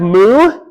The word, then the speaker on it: mu: Then we have mu, right?